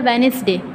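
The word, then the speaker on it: Wednesday: एन के बाद है, तो उसे प्रोनाउंस कैसे किया जाता है, वेनेसडे। उसमें दो बार डी नहीं लिया जाता क्योंकि डी और ई क्या होता है, साइलेंट होता है।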